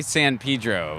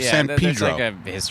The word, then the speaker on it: San Pedro: Oh, how do you say it? Across the bridge. Well, we say San Pedro. Pedro. San Pedro.